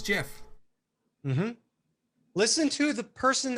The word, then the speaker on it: GIF: Just like giraffe and gist, it is GIF.